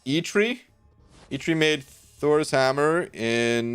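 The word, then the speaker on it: Eitri: congrats uh and thank you dude oh it's pronounced e tree ichiri made thor's hammer in norse mythos and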